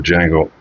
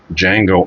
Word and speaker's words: Django: So next up is the Django Django Unchained cuz the D is silent as he says in in the film if I remember correctly.